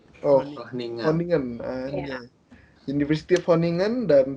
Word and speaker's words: Groningen: Enggak, Groningen. Bacanya tuh kayak Groningen tapi G-nya jadi H. Oh, Groningen.